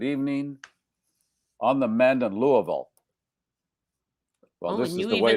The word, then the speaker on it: Louisville: There I saw Ken and he said, "Good evening on the mend in Louisville." Well, this is the way to do it. Louisville properly. Louisville.